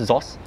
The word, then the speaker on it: XOSS: How is it pronounced? ZOS. ZOS, yeah. Okay. I pronounce it as ZOS.